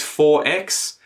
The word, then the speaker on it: XXXX: In Queensland, their preference over VB, Victorian bitters, is 4X. Why is it called 4X?